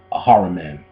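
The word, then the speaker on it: Ahriman: man a h r i m a an a haran that's that's pronunciation human responsibility for Earth by Rudolph Steiner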